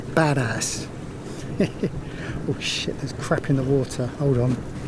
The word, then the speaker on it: Badas: town we're going to it's called badass b-a-d-a-s I'm pronouncing it as badass crapping the water hold